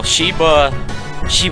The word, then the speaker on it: Sheba: It actually rhymes with Sheila. It's because of that. Yeah, well, Sheba was, God, she's the sweetest dog.